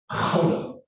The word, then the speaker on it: Gouda: We say Gouda. They do not. They spell it the same way, Gouda. We say Gouda. They say something like Gouda.